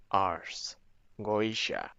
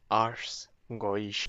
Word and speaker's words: Ars Goetia: And here is how you pronounce it. Okay. Just so that we're all on the same page. This is important. Ars goa ars goisha alchemist or the